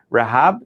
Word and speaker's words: Rehab: It's spelled like Rehab. I think if we say with the right pronunciation, it's Rehab.